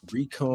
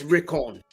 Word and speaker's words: Rickon: Recon. Yeah, he should, or he could be the dragon. That's true. The dragon. Yeah. Recon and decon is crazy. No, that's not how it's pronounced. Dickon Stark. That's Rickon.